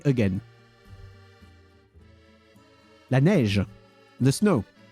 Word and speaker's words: neige: La neige, the snow. So neige, E-I, is pronounced the same as the going down accent on the E.